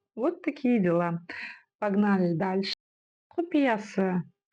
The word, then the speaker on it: құпиясы: Мы видим букву «ы» и вспоминаем, что буква «ы» в казахском языке читается очень и очень кратко. Это твердая и коротко звучащая буква. Да-да-да. Құпиясы. Құпиясы.